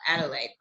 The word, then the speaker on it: Adelaide: beautiful things about where you are in uh adelaide i hope i said it right um yeah